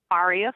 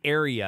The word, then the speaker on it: Aria: My band name is Aria Flame. Okay. Oh, it's Aria. We were saying area, Aria. So we said it wrong.